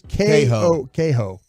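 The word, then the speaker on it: Kohou: It's Kaho.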